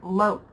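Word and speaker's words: Loetz: putting you guys through your Paces it is LS which is spelled l o e t z LS now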